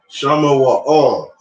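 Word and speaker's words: שמואל: So we see here when we pronounce it Shama Wa'al, we have a Ah and a La that connect. Right? All. Shama Wa'al.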